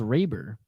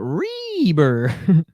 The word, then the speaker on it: Reber: So it's pronounced Reber, not Reber.